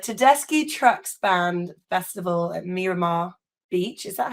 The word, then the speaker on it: Miramar: And then we're playing the Tedeschi Trucks Band Festival at Miramar Beach. Is that how you say it? Miramar?